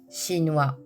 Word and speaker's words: chinois: Attention, le S de OIS du masculin ne se prononce pas alors que le S de Oin singulier se prononce Z. chinois chinoise danois danoise luxembourgeois